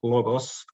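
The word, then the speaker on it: λόγος: and logos is that the accent lies on another syllable. That is, on the first syllable in logos and on the second syllable in agros.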